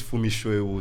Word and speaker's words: Funmi Soewu: My handle, my name is Funmi Soewu, so you can just check for Funmi Soewu, FUNMISOEWU.